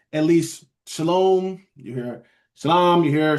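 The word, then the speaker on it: שלום: So they see shalom or how they they show the pronunciation shalom.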